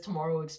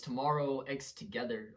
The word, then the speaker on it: Tomorrow X Together: I've been pronouncing that name wrong the whole entire time. I I hate myself. Why do I keep Why do I keep pronouncing as Tomorrowex Tomorrow? It's tomorrow X together or T XT.